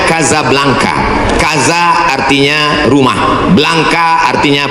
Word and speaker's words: Casablanca: kuliah nama negaranya Maroko ibukotanya tulisannya Casablanca cara bacanya Kadzab langka Kaza artinya rumah belangka